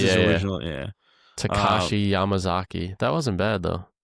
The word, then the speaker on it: Takashi: Let's see how you pronounce it. Yeah. I'll give it a shot too. Uh, Why not? Takayo Yamazaki. Let's see. Takayo Yamazaki. Where are you getting Takayo? Takao. I see it's Takashi.